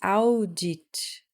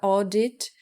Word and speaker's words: audit: falar o bem bem parecido tá não é audit não se pronuncia dessa forma ou o exemplo com a palavra oddit aplicada na verdade eu usei aqui a palavra